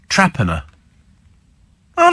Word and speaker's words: Torpenhow: get on with it the weirdest one pronunciation is torpenhow in Cumbria it's actually pronounced Traer how does that work what